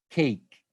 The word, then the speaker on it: cake: So the rule is saying that in a word, for example, such as cake, you don't say the E. The E is silent.